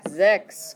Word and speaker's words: sechs: Sechs. Good. So it's like a Z at the beginning.